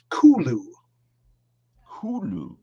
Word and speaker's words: Cthulhu: by the human tongue but the closest pronunciation pronunciation that he said people could utter would be kulu hulu you know knockoff r b group or something